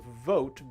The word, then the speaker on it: vote: So as you can see, our first one is vote, but if you don't say the V right, you might be saying boat instead, right?